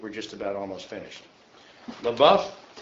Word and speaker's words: LaBeouf: LaBeouf, that's how you pronounce it.